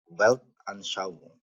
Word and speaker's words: Weltanschauung: Ya, jadi walaupun tulisannya digabung kalau bahasa Jerman itu, tapi bacanya dipisah. Weltanschauung.